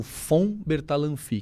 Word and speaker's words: von Bertalanffy: Na verdade, o sobrenome correto seria dizer o von Bertalanffy, que é V, né? V-O-N, mas de pronúncia é von.